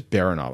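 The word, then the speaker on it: Baranof: Tim the arite says boof no that doesn't even sound right baronov but it's spelled with an a it's baronov I'm going with baronov anyway point is resurrection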